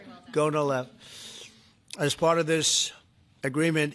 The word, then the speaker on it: Gonal-F: So it's Gonal-F. Is that a proper pronunciation? Very Close well enough, done. Right? Well Gonal-F.